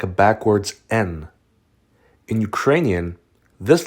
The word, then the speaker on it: Н: This letter looks like a backwards N. In Ukrainian, this letter is pronounced Y.